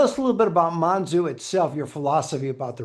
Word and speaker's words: Monzú: The O is O. So, Monzu. Uh, but you know, people say Monzoo all the time. It's it's not a it's not a big deal.